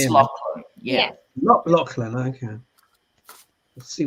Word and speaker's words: Lachlan: Lachlan, don't you think we should get a bit of Shakespeare on Pronounced him? Lachlan.